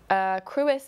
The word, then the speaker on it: Crwys: Which is spelled. spelled not how you think it is. CRWYS. That's the one.